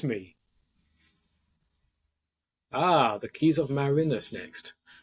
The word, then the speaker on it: Marinus: the book uh my my immediate mispronunciation was uh was Marin whole conversation about that